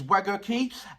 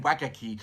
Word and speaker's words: Wagakki: My last one is Wagakki, and thank you very much for making me understand and pronunciation of, I was saying Wagakki, but it's Wagakki.